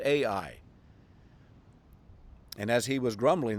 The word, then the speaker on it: Ai: The walls had fallen, and then they were going to go take this little town of Ai. It's pronounced the same way it's spelled, capital A, small letter I.